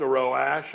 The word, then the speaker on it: Roach: I thought it was, I was like, should we pronounce it Roche?